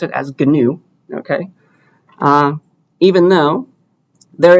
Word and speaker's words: GNU: reading it for the first time you'd say gnu but apparently you pronounce it as gnu okay uh even though there is a word